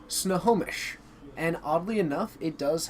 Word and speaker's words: Snohomish: Powers, it is pronounced Snohomish.